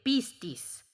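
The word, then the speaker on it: πίστις: palabra que se deletrea P-I-S-T-I-S. Nada engañosa, suena como se escribe, pistis. Es como se pronuncia.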